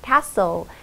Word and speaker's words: castle: 보통 왕자와 공주가 사는 걸로 우리가 생각하는 that is castle. T는 묵음이기 때문에 소리가 않는다는 거 알고 계시죠?